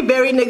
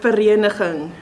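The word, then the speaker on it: Vereeniging: So the actual pronunciation is verenigen.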